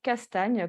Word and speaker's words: Castagne: c'est à mon nom castagne comme ça se prononce j'étais pas prédestiné à